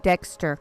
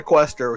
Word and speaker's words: Deqster: and our guest today is none other than dexter what's going on man hey how's it going i need to be here it is pronounced dexter guys we're not he's not he's not the quester he's not taking our he's not taking the